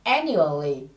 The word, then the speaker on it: annually: năm ở đây là annually. Say it again. Annually. Từ này trọng âm rơi vào âm tiết đầu tiên nhé.